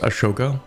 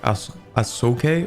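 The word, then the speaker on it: Ashoka: them right we have I believe it's actually not supposed to be pronounced Asoka and it's like as AOK or something but anyway I played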